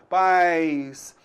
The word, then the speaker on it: pais: Você então vai notar aí que a gente tem uma semivogal i, tá? Pais, houve um declínio, né? Então o som ele diminuiu. Pais. Muito diferente da palavra país. Pronuncie então pais. País. Você notou aí?